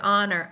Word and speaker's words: honor: What about honor? I'm not hearing that H sound. So, it's almost like we do not even have a beginning consonant while we're going right to the vowel sound.